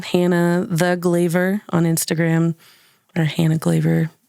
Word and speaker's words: Glavor: my name Hannah thee glaver on Instagram or Hannah glaver docomo this um but it's spelled like Flavor so it's GLA v o r um Show's coming up